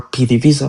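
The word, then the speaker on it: PDVSA: But what I'm trying to say PVESA or PD visa for a better pronunciation in English uh were before Charles didn't create PVESA.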